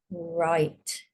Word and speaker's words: write: Make sure you're saying it without the W sound at the beginning.